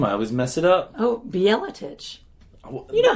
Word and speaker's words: Bjeletich: Oh, Bjeletich.